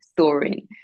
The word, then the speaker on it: Storing: It's Explain like what that's about story, with an N. story, but with an N at the end because it's like in Swedish, you could say storing.